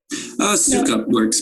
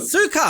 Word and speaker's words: Soukup: Matthew Soukup. Did I say it correctly? Soukup works, but Soukup.